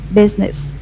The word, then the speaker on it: business: pronounce the word correctly business only two syllables where some of you may say they pronounce the word business like business right it's not correct right there are only two syllables here business business business yeah